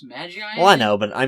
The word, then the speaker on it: Magi: i watched this and i said maggie and they pronounce it like that but it's really supposed to pronounce magi well i know but